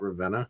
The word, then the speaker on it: Ravenna: I can't believe people pronounce your name anything but Ravena because it's it's pronounced how it sounds so like we're just going to like yeah.